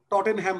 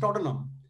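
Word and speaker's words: Tottenham: যেমন আমরা টটেনহ্যাম বলি, ইটস নট টটেনহ্যাম, ইটস টটেনহাম। হ্যামটা উচ্চারণ করা যায়।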